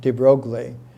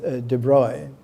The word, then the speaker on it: de Broglie: from louis de broglie i used to use the american pronunciation for his name de broglie but de bruyne prince louis de bruy was one of